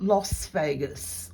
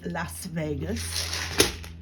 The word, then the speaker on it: Las Vegas: collector in Las Vegas why does she pronounce it lost Vegas I wonder and there's another reseller that does that too and she's also in Las Vegas it's Los Angeles and it is Las Vegas but they both pronounce it Las Vegas which is very confusing I'm not even American and I know that all right here we